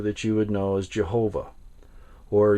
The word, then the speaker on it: Jehovah: This is the word in Hebrew that you would know as Jehovah, or Yahweh is another way that it's pronounced.